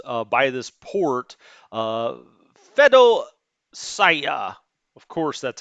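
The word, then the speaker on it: Feodosiya: surround these units uh by this port uh fedo saya of course that's how you pronounce it well that's how the locals pronounce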